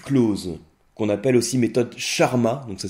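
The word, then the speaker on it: Charmat: de la cuvec clause qu'on appelle aussi méthode charma. Donc ça s'écrit c h a r m a t.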